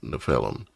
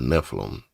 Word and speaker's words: Nephilim: They are the offspring or were a lineage or a bloodline of the offspring of the uh nephelum or Nephilim, however you want to pronounce it.